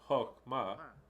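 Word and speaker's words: חכמה: The word Chokhmah, which is, you can find it in the Strong's Dictionary, H2451, and it's pronounced Chokhmah.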